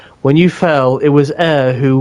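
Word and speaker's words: Eir: Air Gooner with me. Huh? It is pronounced air.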